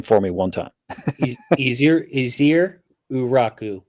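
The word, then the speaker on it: Ezeiruaku: Pronounce his last name for me one time. Easier Uraku. Easier Uraku.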